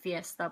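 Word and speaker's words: pyesta: I mean, we also say fiesta, but we pronounce it Tagalog.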